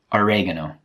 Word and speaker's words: oregano: Oregano. Oregano. Every time Americans say this word, it makes me laugh. I would say oregano.